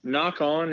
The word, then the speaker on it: Nock On: essentially my brand and it's spelled n Ock so the same way you spell arrow knock which is what clips on the string uh-huh and so it's n o ck o N and if you